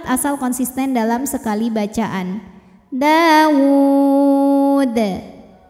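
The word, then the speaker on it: داود: Dawud. Huruf dalnya apabila berhenti hukumnya adalah qalqalah kubra, karena sukunnya tidak asli ya, melainkan disukunkan karena berhenti. Dibacanya dipantulkan dengan pantulan yang besar.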